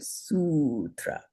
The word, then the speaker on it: sutra: every Buddhist sutra and I should say sutra because it's a long u every Buddhist sutra and sutra is a a verse or a teaching spoken by the Buddha himself.